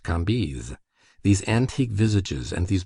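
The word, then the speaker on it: Cambis: was pronounced Levy, Kambes, C A M B I S, pronounced Kambes.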